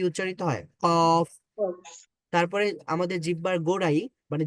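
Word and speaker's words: قاف: জিহ্বার একেবারে শেষ ভাগ জিহ্বার একেবারে শেষ ভাগ উপরে নরম প্যালেটে যোগ করতে হয় মানে এখানে টাচ করতে হয় তখন কি উচ্চারিত হয় কফ তারপরে আমাদের জিহ্বার গোড়ায়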